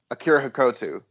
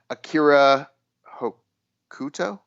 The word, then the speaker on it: Akira Hokuto: better manami toyota or akira hakotu i or i always say her name wrong too akira hokuto i think is it yeah she used to um hokuto that's right she used to come